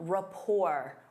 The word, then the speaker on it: rapport: Instead of saying, "They work well together," you can say they have a strong rapport. Rapport. Notice that T is silent.